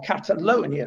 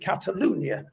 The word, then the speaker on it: Catalunya: with a bit of knowledge about catalunya or catalonia as it's known in castiliano but they pronounce it catalunya um and it has its own language which